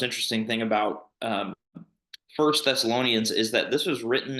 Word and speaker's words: Thessalonians: Thessalonians.